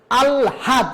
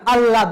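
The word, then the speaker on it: আহ্লাদ: যেমন আলহাদ, আমরা তো আলহাদ বলি, আল্লাদ বলি, আল্লাদ, ল আর এল এই ডাবল উচ্চারণ হয়ে যাবে। আলহাদ কিন্তু আমরা বলি না, আলহাদ, আমরা বলি আল্লাদ, আল্লাদ।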